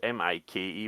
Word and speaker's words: Mikey Madison: Is it Mickey or Mikey? I don't know. It's Mikey. What would that be? Mickey, Mickey, I would say. Mickey. Mickey Mouse is spelled that way.